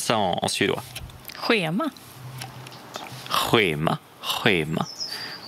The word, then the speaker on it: schema: Schema. Schema. Schema. Ici, on a moins le R de Ruk. On a juste le H ici. Hein. Schema. Schema. C'est un H.